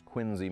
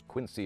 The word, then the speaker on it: Quincy: you go in America it's quiny Massachusetts but it's Quincy Illinois Harold Holmes the father of